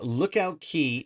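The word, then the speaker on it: Lookout Cay: So, Disney has opened up Lookout Key, even though it's spelled K or CAY, it's pronounced Key.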